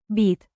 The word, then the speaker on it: být: Remember the long Y in. Být. Stretch it like dramatic theater while sipping coffee very, very seriously.